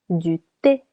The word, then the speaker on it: thé: Du thé. Du thé. Tea. Letter H is silent.